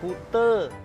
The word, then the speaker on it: Kuta: be pantai pantai Kute Kuta kali tulisannya Kuta bacanya Kute Kute itu mah jadi